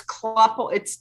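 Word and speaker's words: Klüppel: It's German, so it's Kluppel. I think it's technically Kluppel.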